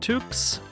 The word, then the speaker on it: toque: So, we have some toques and a scarf. I recently learned that you pronounce that toque.